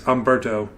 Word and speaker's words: Humberto: I know the H is silent, and it's Humberto.